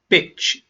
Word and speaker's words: bitch: The word is bitch. Bitch. There are many meanings of this word, some good, some bad. I will explain. First of all, most important, pronunciation. The sound is short. Please listen.